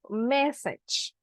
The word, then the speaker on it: message: Okay, just William Jose, the pronunciation of message. Message. Because massage, yeah, it's like massage, like when you are stressed and you need a massage.